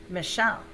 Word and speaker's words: Michelle: of an i am michelle the accent is on the second syllable there's another name that's